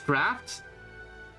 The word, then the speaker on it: draught: Draught is pronounced the same as draft.